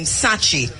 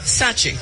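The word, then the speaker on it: Sakyi: t-a-k-y-i or t-a-k-y-i-i and so to the name sachi s-a-k-y-i-i so that it would be touchy or sachi yeah you know so that at some point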